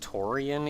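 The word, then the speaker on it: Tourian: able to get over the fact that they that it's pronounced Toran even though in reading it I see that the I is before the A and it's still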